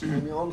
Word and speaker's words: Amiens: Amiens, I'm told, is the right pronunciation, for our first night on French soil.